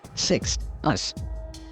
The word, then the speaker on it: Sixtus: this means sixth because the word six along with the t as in sixth is literally its first syllable followed by the latin suffix us pronounced us thus the word 6 us so you have to